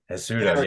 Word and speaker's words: Cejudo: Sterling versus Henry Cejudo. I think that's how you say it. Henry Cejudo. Cejudo, yeah.